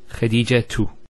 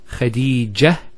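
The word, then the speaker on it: خديجة: you want to say Khadija tu. Notice Khadija tu. We pronounce the ta. If we stop at the ta, Khadija, it's a ha.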